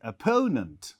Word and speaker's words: opponent: on second syllabus opponent we don't say opponent we say opponent so stress on the uh second syllable similarly when you talk